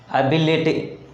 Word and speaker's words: ability: For example, ability, ability, ability. The word ability has four syllables. Then the stress falls on the third syllable from the end, that is on b.